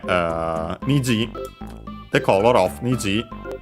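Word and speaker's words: 虹: niji the color of niji niji uh unacented means rainbow color of the rainbow.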